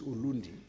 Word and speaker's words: Ulundi: urundi and if you some people like the Zulus can't pronounce R they say l so urundi becomes ulundi in Natal you have